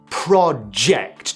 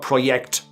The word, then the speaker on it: project: Okay, we've decided to cancel the project. Not project, project.